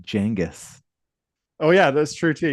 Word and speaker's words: Genghis: That I think it's actually pronounced Genghis.